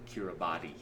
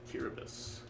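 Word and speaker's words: Kiribati: It's uh spelled when you look at the spelling, you would pronounce it, we would pronounce it Kiraabati, but um it's actually pronounced Curabus.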